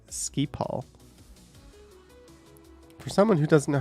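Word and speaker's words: Schiphol: think that's gonna happen pronounced ski Paul for someone who doesn't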